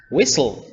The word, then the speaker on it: whistle: normally we do say listen with an or whistle the letter U disappears a lot in diphthongs